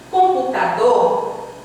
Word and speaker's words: computador: Computador, chame a palavra. Computador, você demora mais no do.